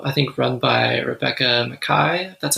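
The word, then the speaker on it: Makkai: story studio uh I think run by Rebecca McKai that's how you pronounce her last name and they offer especially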